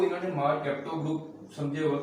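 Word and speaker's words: mercapto: ये मार सेप्टो नहीं है, मार कैप्टो प्रोनाउंस करते हैं इसे।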